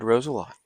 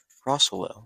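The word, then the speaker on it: Rosello: little bit oh je I've been been pronouncing his name wrong this whole time and it's Ted roselo so I'll make sure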